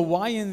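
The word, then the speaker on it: יה: Y y la H, is pronounced ya. Se pronuncia ya. Ya. Okay, now in Spanish, I know it's funny because ya means now. En español ya quiere decir ahora, pero no es lo mismo. But no, it's ya with an H, okay?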